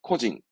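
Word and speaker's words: 個人: 발음은 코징, 코징.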